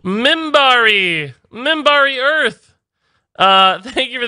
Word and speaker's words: Minbari: already five which is fine though it is pronounced in bari e minbari minbari earth thank you for the tier 1